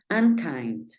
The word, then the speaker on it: unkind: Bueno vamos a analizar la profe dice que si termina en consonante debo aplicar el sonido que dice acá la u sabemos que en consonante suena como una a Entonces vamos a decir la primera parte la vamos a decir an verdad entonces aquí vamos a escribir an an y la siguiente parte vamos a tener kind unkind unkind en este caso la